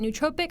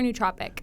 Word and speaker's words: nootropic: exciting product nootropic Elixir how do you say it nootropic or nootropic well tomato tomato just kind of depends I've heard both ways I usually say nootropic